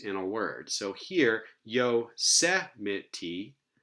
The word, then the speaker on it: Yosemite: So here, Yosemite has stress on the third to last syllable.